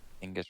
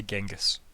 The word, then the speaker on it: Genghis: my instincts are to say Genghis, right? And I'm like, I feel like those are wrong. So Yeah, I think we grew up with a poor Western Yeah. pronunciation. I thought it was more like Chinggis. So yeah, like it very possibly could might be.